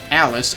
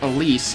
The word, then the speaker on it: Elise: right so actually uh Alice or rather Elise even though it's spelled like Alice do you see